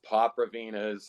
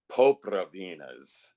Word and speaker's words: Popravinas: in their name, but it could be pronounced Popravinas or Popravinas, but the way it was initially described to me was Popravinas.